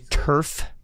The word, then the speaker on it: Tuereff: Kevin, just to make sure, it's Tuerff. Yes, thank you for asking. Thank you. It's Tuerff, like AstroTurf.